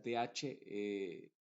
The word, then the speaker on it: the: palabra que le sigue si es que la palabra que le sigue empieza con una vocal Entonces el da se va a pronunciar como di en estos casos como